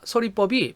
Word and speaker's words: 설의법: 자, 표준 발음을 보니까 서리법이 표준 발음이 두 개예요. 이렇게. 그럼 왜 이렇게 두 개가 됐느냐?요 요 이중모음의가요. 요게 발음이 두 개가 됩니다. 자, 일단 기본적으로는 글자 그대로 읽으면 돼요. 의라고 읽으면 됩니다. 하지만 이로 읽는 거를 허용해 줘요. 이렇게 의와이 두 개가 다 됩니다. 그래서요 초성의 이응은 아무것도 없는 빈자리기 때문에요 니을이 뒤로 넘어가죠. 그래서 설리 이렇게 되고요. 그다음에 이로 발음하는 걸 허용한다 그랬으니까 서리가 되겠죠.